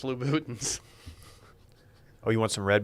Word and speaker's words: Louboutins: You know, It's pronounced Louboutins.